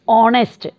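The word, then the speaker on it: honest: और यहाँ पर कंसोनेंट से स्टार्ट है but pronunciation is ऑनेस्ट, ऑनेस्ट मैन, ओ से प्रोनाउंसिएशन है, तो एच यहाँ पर साइलेंट है, तो इसका प्रोनाउंसिएशन भी वॉवल साउंड हो गया।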